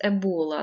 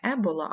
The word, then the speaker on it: Ебола: дуже страшний вірус вірус Ебола названий області річки в Африці І наголос Саме так ставиться річка зветься не е була а ебола і він спричиняє дуже рідкісне